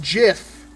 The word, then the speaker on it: Jif: interesting very interesting it's the peanut butter is pronounced jiff there's a local hot dog shop that has